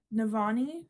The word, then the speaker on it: Navani: a minute from this so we are following navani I believe is how you pronounce her name I thought that this would